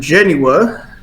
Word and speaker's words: Genua: Well, we're able to get you with a Gaff and Genua switch. Genua? How do you say that? You would recognize it as Genoa.